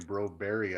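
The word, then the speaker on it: Broberg: You keep saying Broberry.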